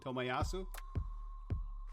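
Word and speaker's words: Tomiyasu: i'm sorry how do you say his name tomayasu yeah what a great name great signing for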